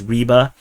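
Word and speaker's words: Rybar: Source uh right but I like to call them riba I know the actual pronunciation is Reba so uh yeah that's Russian and Ukrainian way of pronouncing it but yeah I'm pronouncing it as English and um yes and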